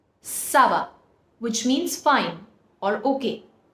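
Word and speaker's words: ça va: put sedil below the sea it will be pronounced as Sava Sava which means fine or okay so you see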